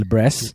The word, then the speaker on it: Libresse: Some people call it Libresse, but I think the right way to pronounce it is actually Libresse.